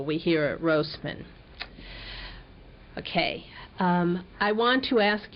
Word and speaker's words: Rosman: I have mispronounced her name in the other reels, so it's a long O. We hear it Rosman.